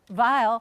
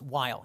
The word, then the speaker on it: Weill: as American as possible he changed the pronunciation of his last name not the spelling but now it's while he's Kurt while he